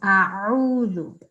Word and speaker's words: أعوذ: Okay, so just remember that is Ain, that is not Alif, all right? So we've got to make sure that we try and pronounce the Ain. A'udhu, okay? Min ash-shaytanir rajim.